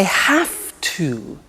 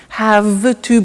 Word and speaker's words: have to: I have to. Notice I don't say V, I say F. Have. It becomes have to. Have to becomes in pronunciation have to.